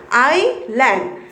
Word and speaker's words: island: It is I-land. It is not island. S is silent.